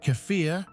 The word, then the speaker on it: kefir: It is, but kefir, pronounced kefir, often has an even wider variety of beneficial bacteria and yeasts, making it a true probiotic powerhouse.